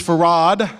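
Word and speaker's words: Fard: My name is Farad. That's spelled F-A-R-D. That's an Arabic word that means obligatory.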